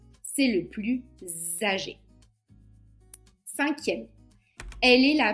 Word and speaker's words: plus: Paul est le plus agréable. 4è, c'est le plus âgé. Même chose, est un adjectif qui commence par une voyelle a. Donc le S va se prononcer Z. C'est le plus âgé.